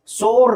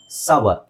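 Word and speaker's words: sour: fine okay next ಬಂದು ಎಸ್ ಓ ಯು ಆರ್ ಇಟ್ಸ್ ಸೋರ್ ಅಂತ ಹೇಳ್ತಾರೆ ತುಂಬಾ ಜನ ದಟ್ಸ್ ರಾಂಗ್ ಸವರ್ ಏನು ಸವರ್ ಸವರ್ ಓಕೆ ಸೋ ಇಲ್ಲಿ ನೋಡಿ ಸವರ್ ಆರ್ ನ ಸೈಲೆಂಟ್ ಮಾಡಬಹುದು ಬ್ರಿಟಿಷ್ ಇಂಗ್ಲಿಷ್ ಅಲ್ಲಿ ನೆಕ್ಸ್ಟ್ ಇದು ಬಹಳ ಜನ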